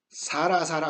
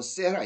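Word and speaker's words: Sarah: 자, 사라 우리 그러죠. 성경에서 나오는 사라입니다. 자, 이 영어식 발음으로 세라 이렇게 얘기를 하죠.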